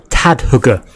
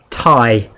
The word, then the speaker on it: Tadhg: It's like Thai. I'm like, oh, right. So the D is silent, and the H, and the G, and you just put some extra vowel.